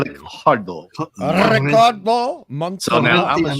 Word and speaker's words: Ricardo Montalban: And you literally just beat me to saying Ricardo Montalban. You have to say it like that, Hungry. Ricardo Montalban. Ricardo. Ricardo Montalban.